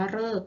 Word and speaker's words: ฤกษ์: ก็ คือ คำ ว่า ฤกษ์ เอง ซึ่ง คำ ว่า ฤกษ์ นะ คะ ตัว หรือ ออก เสียง เริ่ม มา เจอ กับ ตัว สะกด ก ไก่ นะ คะ จะ หาย ว่า ฤกษ์ ค่ะ ต่อ ไป ตัว หรือ